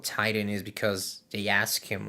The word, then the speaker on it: Tighten: And he spells like if you're tightening something, not like a titan, like the the Greek